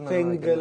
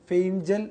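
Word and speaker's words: Fengal: തമിഴ്നാട്ടിൽ സംഭവിച്ചു കഴിഞ്ഞു തീർച്ചയായിട്ടും ഇതിന്റെ ഉച്ചാരണത്തിൽ പല സംശയങ്ങൾ ഉണ്ടായിരുന്നു അതെ അതെ ഇംഗ്ലീഷിൽ എഴുതുമ്പോൾ ഇംഗ്ലീഷിൽ എഴുതുമ്പോൾ ഇത് ഫെംഗൽ അങ്ങനെ ഇങ്ങനെയൊക്കെയാണ് ഒരു പ്രൊനൗൺസിയേഷൻ വരുന്നത് പക്ഷേ ഫെയ്ഞ്ചൽ എന്ന് ഉറപ്പിച്ചിരിക്കുകയാണ് എല്ലാ പത്രങ്ങളും മലയാളികൾ ഫെയ്ഞ്ചൽ എന്നാക്കിയിട്ടുണ്ട് അതെ അപ്പൊ ഫെയ്ഞ്ചൽ ചുള്ളിക്കാറ്റ് എന്ന്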